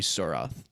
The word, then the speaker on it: Surath: And just a very small correction because this will become a thing is that the woman with the long fingernails, her name is High Lady Surath.